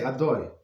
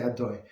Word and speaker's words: Adoi: And when we say blessing, of course we say Adoi, right? Of course, there is no. I'm not going to finish this word, right? So we say Adoi.